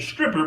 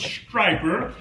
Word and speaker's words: Stryper: video about striper striper I I was pronouncing it stripper but I was corrected and told that it was striper striper is a gospel